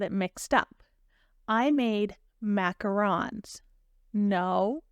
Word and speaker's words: macaron: so first of all macaron it is pronounced macaron and they are they